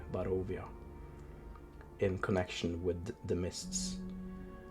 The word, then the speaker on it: Barovia: So it's pronounced Barovia, not Barovia. No, what you're saying sounds like a very fancy beach location.